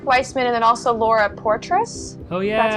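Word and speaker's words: Poitras: Well, I had Frederick Weissman and then also Laura Portress. Oh, yeah. That's how it's pronounced.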